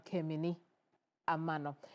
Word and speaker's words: Keminni Amanor: Now, uh for our viewers in Sunana who say that I should slow down in pronouncing my name. I'm Kim Amano.